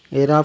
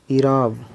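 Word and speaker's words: اعراب: एराब का सही तलफ़ुज़ यानी उच्चारण क्या है? एराब, ईराब, एराब या ईराब। तो इसका ऑप्शन नंबर 3 राइट आंसर हो जाएगा, ईराब। इसका सही तलफ़ुज़ क्या हो जाएगा?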